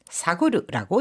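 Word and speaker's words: 探る: 자, 뒤지다, 살피다 할 때는 사구르라고 읽어 줍니다. 다시 한번요. 탐색이라고 할 때는 단사크 단사 탄으로 읽어 주고 뭔가를 찾다 할 때는 사가스 뒤지거나 살피다라고 할 때는 이거를 사그르 사그르라고 읽어 줍니다.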